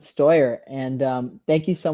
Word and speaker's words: Steuer: I'm pronouncing that right Stuart uh yeah you can pronounce it stoyer and um thank you